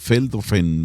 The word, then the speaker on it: Veldhoven: Veldhoven, me parece, muy parecido a Beethoven.